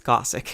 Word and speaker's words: Gosick: Please don't tell me it's pronounced Gosick. It's Gossick. It's a play on the word Gothic.